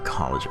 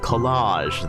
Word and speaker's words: collage: put in and then oh college collage that's what it's supposed to be pronounced as and then you arrange